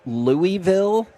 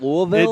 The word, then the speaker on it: Louisville: got this one right the other one I say wrong that I know drives people crazy is I'll say Louisville instead of Louisville it does drive me